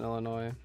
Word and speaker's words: Illinois: I guess most people, you know, don't pronounce the S in Illinois. Yeah. I mean, I don't think you're supposed to pronounce the the S.